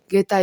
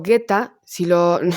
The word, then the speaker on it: Geta: Que por cierto, Guetta, no David Guetta, si lo pronunciáis mal en castellano, te sale Geta.